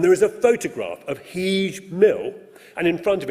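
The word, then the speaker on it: Heage: The name of the watermill written H-E-A-G-E. Great. Heege. H-E-E-J.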